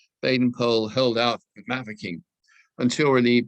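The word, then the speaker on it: Baden-Powell: without meeting any resistance jaden pole that's how you pronounce the name by the way a member of the family assured me of that baden poll held out mavicking until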